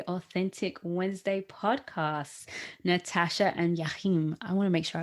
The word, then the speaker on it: Jachym: welcome to the authentic wednesday podcasts natasha and jachim i want to make sure i pronounce his name right did i say it